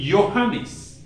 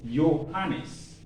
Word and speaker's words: Johannes: but j remains y you don't pronounce j j you pronounce it y yacht so when you